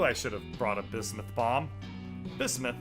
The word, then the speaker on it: bismuth: So, where do we get a bibsmith bomb? I guess I mispronounced it. Bismuth.